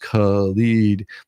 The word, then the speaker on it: Khalid: Mayor Khalid, pronounced Khalid, is leading a generation of young activists from protests to politics.